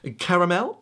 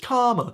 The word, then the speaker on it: caramel: Next up, you might see this and think, caramel? No. It's just caramel. See, we say caramel in the US, but it's more of a British accent thing.